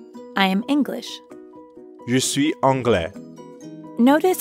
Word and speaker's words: anglais: am english you see anglais notice how the ending of angli is very similar to francais both are masculine and although they both end with an s you don't pronounce it so an englishman would